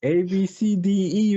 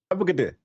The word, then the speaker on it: ABCDE: ABCDE Redford. Guess how you pronounce it? Abcde.